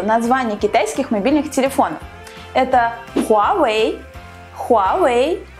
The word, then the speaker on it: Huawei: Давайте заодно разберемся, как же правильно произносится название китайских мобильных телефонов. Это Huawei, Huawei и Xiaomi.